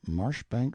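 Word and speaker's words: Marjoribanks: sellers vice count berkeley of chalmundale castle warwickshire pronounced kakubri slanover marsh bank sellers vikant barkley of chumley castle workshop he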